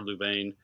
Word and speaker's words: Louvain: about the mystery of Lubin or louvain depending whether you do the French or how you pronounce it uh they never knew